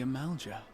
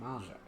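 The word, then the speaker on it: Amalj'aa: And thus did we make allies of the Amalja. Oh, that's how you pronounce it, Malja.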